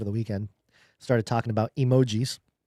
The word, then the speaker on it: emoji: Apparently that is not how you pronounce it. It is emoji emoji because in Japanese e means image, art and g means word. So it's art word emoji. It is not as Americans think emotions because it's, you know, emoji.